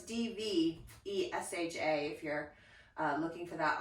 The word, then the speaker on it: Dvesha: And the playlist this morning is called Dvesha, but it's spelled with a V, so it's Dvesha if you're looking for that on the Spotify.